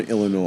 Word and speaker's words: Illinois: is an S but the S is silent got it Southern Illinois I hope they don't